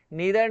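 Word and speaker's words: neither: यहाँ पे क्या आ जाएगा, नीदर नॉर का यूज हुआ यार, नाइदर नॉर भी इसका प्रोनाउंसिएशन होता है।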